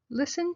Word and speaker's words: listen: I watch movies online listen to the teacher the tea of listen is silent I listen to music help